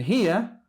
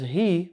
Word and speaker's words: هي: And hiya, pronounced as he when you stop.